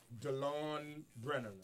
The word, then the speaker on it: Delon Brennen: amen thank you very very much absolutely Dr Delon Brennan am I pronouncing that absolutely sir you are Dr Delon